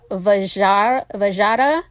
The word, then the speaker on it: Vajra: from the word, and I might butcher this, Vajra, which it's spelled V-A-J-R-A.